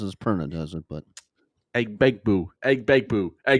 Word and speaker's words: Egbuka: G is silent, kids. I know. I just like calling him Begbu more than anything, but we don't do as many times as Perna does it, but Eggbegbu, Eggbegbu, Egbuka.